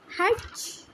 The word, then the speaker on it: hedge: Hedge? Okay, here is a word hedge. We have to pronounce it hedge. We have to, the silent letter D.